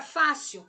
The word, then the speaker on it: fácil: Se a sílaba tônica da palavra fácil é a Fá, que é a penúltima, ela é uma palavra paroxítona.